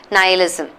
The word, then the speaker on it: nihilism: I li assume right but it's pronounced as nihilism nihilism so let's break it